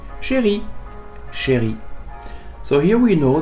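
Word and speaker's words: chérie: It doesn't change the pronunciation by the way. Sherry sherry.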